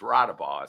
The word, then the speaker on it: Rotnabaugh: In the building today, we have Rotnabaugh. Well, there's no N's in there. There's no ends, but it's Rotnabaugh.